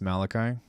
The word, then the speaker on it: Malachi: pretty pretty cool stuff it's pronounced Malachi that's that was my first guess I think uh